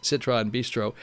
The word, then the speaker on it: Citron Bistro: I mispronounced it. I call it something else. It's Citron Bistro.